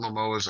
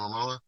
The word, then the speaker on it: Momoa: right yeah he's the coolest yeah like Jason lamoas is Right Jason Momoa yeah I don't say his name no you